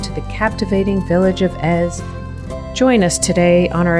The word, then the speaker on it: Èze: the captivating Village of EZ join us today on our adventure as we explore n and EZ or as the Americans say nice and easy I would like to